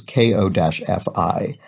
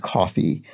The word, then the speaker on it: Ko-fi: collect donations, which is KO-FI. And I generally pronounce that coffee. And then I watched a video on their website and they pronounced it Kofi.